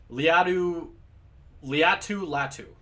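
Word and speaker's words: Laiatu Latu: Liatu Latu, right?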